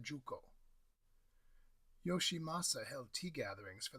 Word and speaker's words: Shuko: The Togudo contains a tearoom, the Dojinsai, designed by the tea master Murata Shuko (pronounced Juko).